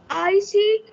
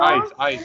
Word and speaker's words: ice: They sit off across the icy snow. Ice, not icy, ice. Ice, the last word, the last letter, it's called magic E. It's not pronounced.